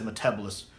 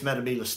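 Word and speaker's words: Metebelis: complaint i have is when matt smith pronounces the metabolis three crystal name wrong he says metabolism maybe it is a different planet maybe there is a metabolism a metabolism but for me it's metabolise three and anytime he says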